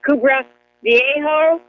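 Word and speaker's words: Cumbre Vieja: I think it's pronounced Kubra Viejo.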